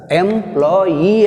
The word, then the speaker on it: employee: ఇక్కడ ఎంప్లాయీ అన్నప్పుడు వై మీద పెట్టాలి, ఈ మీద పెట్టద్దు. ఆ ఈకి ముందున్న లెటర్ చూసుకోవాలి. అంతవరకు ఒక భాగం సిలబుల్. సో ఈ సఫిక్స్ కేమ్ వెన్, ఈ suffix came we have stress on last syllable. మనము స్ట్రెస్ని చివరి సిలబుల్ అయినటువంటి ఈ మీద పెట్టాలి.